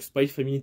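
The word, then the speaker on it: Spy×Family: Spike alors spy familier je prononce plus le X c'est vrai le cross je prononce plus donc spy family tome 7 bientôt et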